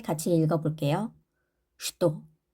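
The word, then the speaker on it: что: 슈또 슈또 슈또라고 쓰지만 우리가 이거는 예외적인 발음입니다. 슈또 슈 이고로 되어 있지만 우리는 이로 읽습니다.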